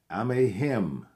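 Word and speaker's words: Amexem: Those names were Amehim, spelled A-M-E-X-E-M. It is pronounced Amehim.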